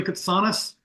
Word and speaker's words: Ktsanes: I am Ktsanes, pronounced with a soft T and missing a vowel that was lost when my grandfather arrived at Ellis Island as a teenage immigrant.